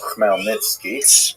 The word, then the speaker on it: Khmelnytsky: It's actually pronounced Khmelnytsky with a guttural at the beginning.